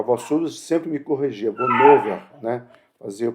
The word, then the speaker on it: Bonhoeffer: A voz surda sempre me corrigia, Bonhoeffer, né, fazia eu pronunciar correto, né, e nessa descrição aí da biografia dele, tem um momento que ele se levanta contra Hitler.